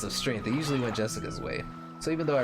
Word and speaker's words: Jessica: really old but they're spoiled anyway that is pronounced Jessica she's dad's older brother's daughter that older brother